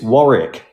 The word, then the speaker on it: Warwick: 58, Ricky how do you pronounce the last name? Yeah, so it's Warwick. All right, Warwick.